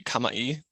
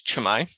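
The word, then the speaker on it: Cama'i: first one you'll see um this is actually pronounced my I know it looks like it should be Kamai to a English speaker but it's chimai that means like hello or welcome then there's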